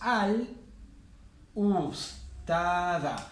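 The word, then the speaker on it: الأستاذة: Entonces tenemos al ustada. Porque el alif es lunar. Como el alif es lunar, la L se pronuncia.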